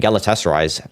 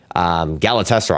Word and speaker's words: Galatasaray: I don't know how to say Trabzonspor, but Fenerbahce and Galatasaray, that's how you say it. I've heard other, I've heard Turkish people say it like that.